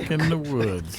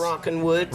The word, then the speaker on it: Rockin' Woods: You said Rockin' the Woods. Yeah. I said it wrong. You said it wrong. There's no the. Okay. It's like Pat and Ed. Yes. Rockin' Woods.